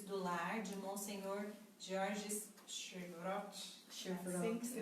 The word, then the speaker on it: Chevrot: As Pequenas Virtudes do Lar, de Monsenhor Georges Chevreul. Assim que se pronuncia.